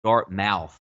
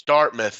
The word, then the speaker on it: Dartmouth: all sorts of stuff pronounced that dark mouth is that disrespectful to the University you're gonna bet our mouths it's Dartmouth and that's where Michael